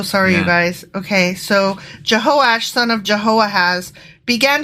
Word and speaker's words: Jehoash: Samaria then his son jehoiahash became don't know a hash Jehovah went from jehoiah has no you know what I apologize I mispronounced that it's jehosh jehosh but still jehoiah has